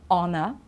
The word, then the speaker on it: honor: When we don't pronounce the H, because you know that we do usually, okay?